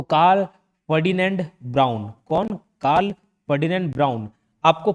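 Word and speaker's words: Braun: याद रखना है बस ये ब्राउन हालांकि इसका spelling B आर ए यू एन है बट जैसे मॉनिटर ब्लैक मॉनिटर रहता है ब्राउन मॉनिटर रहता है वाइट मॉनिटर याद रख सकते हो ब्राउन मॉनिटर ब्राउन मॉनिटर तो ब्राउन से ब्राउन नाम याद रह जाएगा स्पेलिंग भले अलग है कब किया था इन्वेंट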